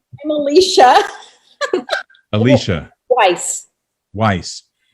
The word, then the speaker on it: Alesia: Did I pronounce both those correctly? No. I'm Kara. I'm Alesia.